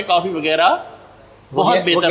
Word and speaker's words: Wagera: तो इंग्लिश में अगर वगैरह लिखेंगे तो GHAIRA लिखेंगे, वगैरह।